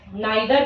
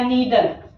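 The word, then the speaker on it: neither: Okay, अब आइदर के बाद बेटा अगर हम बात करें नाइदर की, नाइदर या नीदर, both pronunciation is good और राइट।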